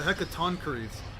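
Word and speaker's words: Hecatoncheires: Oh, the Hecatonies. That's how you pronounce it.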